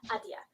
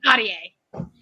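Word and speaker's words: Ahdieh: The Dawn by Renee Adia. I hope I pronounced that right.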